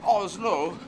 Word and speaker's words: Oslo: Norwegian word which is Oslo which seems to be the emphasis on both syllables oh it's look and